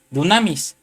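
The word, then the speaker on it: δύναμις: Poder, hermano, viene de la palabra del número strong G 141, que es una palabra griega que se pronuncia dunamis, que quiere decir potencia, poder, fuerza y capacidad.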